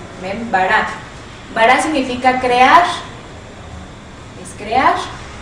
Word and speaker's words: bara: B de burro, A, R, una R y una A, con acento en la A para saber en dónde va la fuerza de la pronunciación. ¿Ven? Bara.